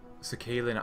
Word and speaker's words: Sakhalin: Oh, and you might want to watch the Sakhalin Islands. That's how you pronounce it.